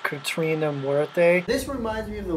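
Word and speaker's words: Catrina La Muerte: Katarina Mutineer. I'm sorry, I'm ignorant. It is pronounced Katrina Muerte.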